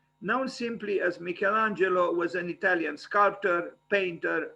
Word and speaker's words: Michelangelo: michelangelo in italian is pronounced michelangelo in english perhaps michelangelo i will i will